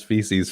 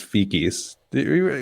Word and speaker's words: feces: a financial show but I don't like when people pronounce feces FIS heard say that no